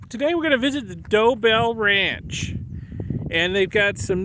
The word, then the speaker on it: Dobell: we're gonna visit the dobel ranch and they've got some nice pictographs here to help you understand how to pronounce the name of their Ranch dobel they got a doe and a bell and um well we're